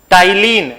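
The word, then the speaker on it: ptyalin: Next point लिखिएगा saliva contain an enzyme, saliva contain an enzyme, saliva contain an enzyme called टाइलिन। यहां P silent है, ठीक है।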